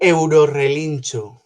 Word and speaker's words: Eurorelinchu: Eurorelinchu, or how do you pronounce it? Eurorelinchu.